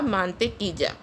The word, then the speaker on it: mantequilla: Guys, double L is pronounced as J in Spanish, so it is pronounced as la mantequilla.